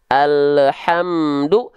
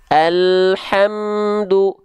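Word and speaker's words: الحمد: Jadi jangan sampai yang pertama memantul alhamdu, jangan sampai terputus suara alhamdu, tapi harus tanpa memantul dan sedikit mengalir suaranya, jangan terputus. Coba kita praktekkan. Alhamdu, alhamdu, alhamdu.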